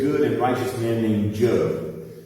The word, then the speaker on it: Job: and righteous man named joe it sells j.o.b like john but it's pronounced joe he's upset because he